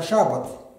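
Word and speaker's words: שבת: Суббота взята с еврейского слова, неправильно произносится, шаббат. Шаббат, суббота.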